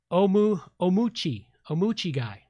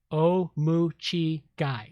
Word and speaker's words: Omuchi Guy: And he tells me that his name is pronounced Omuchi Guy. Omuchi Guy, and the Ki as in chi, Tai Chi. So Omuchi Guy.